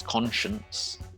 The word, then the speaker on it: conscience: pronunciation which is fine i know that you can't look at the word science and think that the next one must be conscience it's conscience it's unfortunate that it